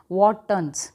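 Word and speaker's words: Wharton's: वॉटसन jelly, ये वॉटन jelly जो है, this is वॉटन jellies, वॉटन्स pronounce आप करेंगे वॉटन्स।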